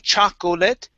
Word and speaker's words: chocolate: to chocolate right here instead of saying chocolate okay this o the second o is silent it's chocolate chocolate chocolate